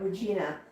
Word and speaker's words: Regina: When I'm still trying to pronounce it like the city in Saskatchewan, but Regina.